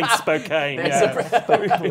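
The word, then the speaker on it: Spokane: in New York handing in Span we say Spokan the British pronunciation for just call it banding Christopher Walkin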